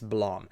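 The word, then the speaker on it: BLAME!: I have I literally looked up a YouTube video of a Japanese person pronouncing how to pronounce this uh manga title in English and it's blam.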